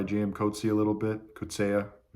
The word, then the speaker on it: Coetzee: Coetzee a little bit, Coetzee, which is the correct pronunciation, South African pronunciation.